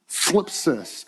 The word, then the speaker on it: thlipsis: This is the word thlipsis. Anyone want to try and say that one? Thlipsis. If the person in front of you, if the back of their head isn't wet, you didn't say it right.